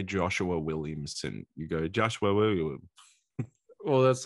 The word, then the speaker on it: Joshua Williamson: Every time you say Joshua Williamson, you go Joshua Williamson.